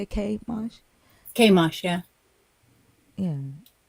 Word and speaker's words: Chemosh: Chemosh, yeah.